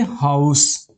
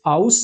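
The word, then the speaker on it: house: तो जाहिर सी बात है यहां पर एच फॉर ह का उच्चारण हो रहा है। आप एच को साइलेंट करके नहीं चल सकते। आप इसे आउस नहीं बोलते हो।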